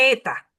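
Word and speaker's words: ήτα: Luego sigue la ETA. Alfa, beta, gamma, delta, Z, ETA, teta. Se tienen que aprender una musiquita también. Eta, otra e, bendito. Otra e, pero esta e es larga.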